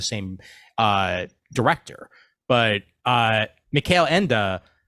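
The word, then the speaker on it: Michael Ende: uh director but uh Mel Enda thank you for correcting me on the pronunciation of the name as I would have been calling him Michael end otherwise uh but uh but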